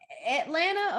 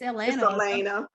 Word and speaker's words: Elena: real i was like it's my name atlanta or elena it's elena yeah yeah it sounded like atlanta that's how they was pronouncing it to me um atlanta elena